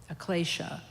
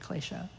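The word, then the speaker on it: klesha: and into Sanskrit and in Sanskrit it's um Ecclesia spelled k-l-e-s-h-a glacier and Sanskrit and then in tibetan I think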